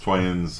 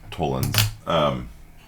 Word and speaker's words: tollens: I've heard it pronounced toyens. I don't know why. My professor called it modus tollens.